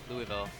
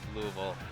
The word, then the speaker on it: Louisville: guess that's a good so he's from Kentucky Louisville or Louisville or whatever like no you said it right